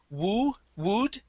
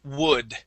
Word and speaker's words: wood: the word wood so instead of saying woo wood it is wood wood okay W wood wood